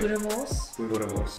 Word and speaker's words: boerewors: Boerewors roll. How do you pronounce this? I'm not Afrikaans. How do you pronounce this the proper way? Boerewors.